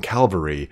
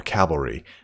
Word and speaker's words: cavalry: reavers and you notice I say Cal to prevent myself from saying calvary or cavalry Cavalry being the right way to say it but we know that